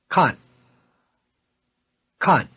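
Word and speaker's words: 看看: verb to look at khan khan the same verb reduplicated means to look around or to have a look we duplicated verbs are toneless on the second syllable repeat to have a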